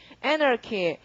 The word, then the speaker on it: anarchy: 그 다음 단어 강세가 앞이고요. 발음이 anarchy.